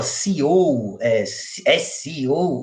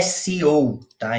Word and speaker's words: SEO: sobre a pronúncia né muita gente fala seou o correto é se tá Então essa é uma